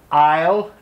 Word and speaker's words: aisle: Yes, it's spelled a little bit different, but aisle, A-I-S-L-E, just think about the aisle seats.